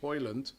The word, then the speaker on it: Højlund: He says Højlund broke 2 records yesterday, being the youngest to get 6 in the Premier League, and scored United's fastest away goal in 38 seconds. He's the real deal. Rasmus Højlund.